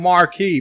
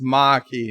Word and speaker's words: Maquis: number one sci-fi said it's machi not marquis so you see I